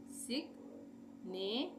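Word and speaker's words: signature: एन शन होता है टी यू आर ई चर तो यहां पे हमने कैसे तोड़ा इसको सिग कर दिया उसके बाद ने कर दिया और चर कर दिया पर यहां पे हमने पूरा ग यहां पे बना के दिखाया है इसको हम लिखेंगे ऐसे हिंदी में सिगनेचर ठीक है सिग्नेचर सिग्नेचर का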